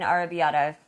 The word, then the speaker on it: arrabbiata: make an arrabbiata, Correct. I don't know how to pronounce it.